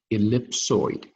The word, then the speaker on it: ellipsoid: so the first quadrant what surface is called ellipsoid that's how you pronounce it ellipsoid so this is like so it means like